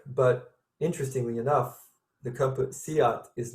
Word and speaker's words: SEAT: It's pronounced Seat, spelled Seat.